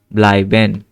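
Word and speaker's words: bleiben: ব্লাইবেন, আবার আই উচ্চারণ হচ্ছে।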